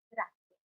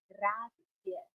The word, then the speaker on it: grazie: Grazie. You have to make sure you pronounce the GR at the beginning and the Z at the end. Grazie. Grazie.